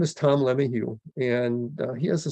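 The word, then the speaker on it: LeMahieu: his name is tom lemihu and uh he has a son that uh chased the baseball dream and last year his son dj and they pronounced it la mayhew when he played for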